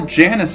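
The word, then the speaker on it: Janus: hell Janice is, and I also think I have been mispronouncing his name the whole time. Because in the past week, I seem to remember that in the movie he was called Yanis instead of Janice.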